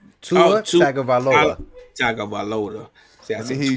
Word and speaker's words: Tagovailoa: See, I'm pronouncing names like Tutalula. Tua is I got his name. It's Tua. it's Tua Tagovailoa. Tua Tagovailoa.